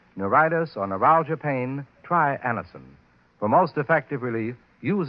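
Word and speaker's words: Anacin: If you suffer from the pains of a headache, neuritis, or neuralgia, try Anison.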